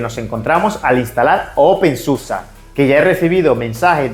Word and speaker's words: SUSE: ya quede más claro por qué se pronuncia susa hablemos ahora de los